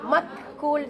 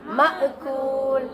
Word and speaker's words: مأكول: மக்கூல் சொல்லாம மஅகூல்.